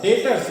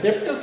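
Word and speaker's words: debtors: डेटर्स, डेप्टर्स मत पढ़ना, B silent रहता है, डेटर्स बोलते हैं।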